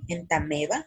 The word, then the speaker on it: Entamoeba: de otro por ejemplo en tame bah se escribe entamoeba pero se pronuncia él también va porque está en latín y así hay muchos